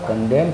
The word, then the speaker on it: condemn: उसी तरह से आप CONDEMN कहते हैं, देखिए एम के बाद एन आया है, एन साइलेंट हो जाएगा। यहाँ इसका उच्चारण होगा कंडेम।